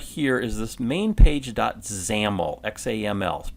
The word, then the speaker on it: XAML: we've seen right here is this main page zamel XAML pronounces amal that is our interface code and